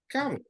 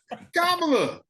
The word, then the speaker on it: Kamala: Remember back in the day before we knew how to say her name, people were saying Kamala. I like Kamala better, but I ain't gonna disrespect that. I was saying Kamala. Yeah. I was saying Kamala too.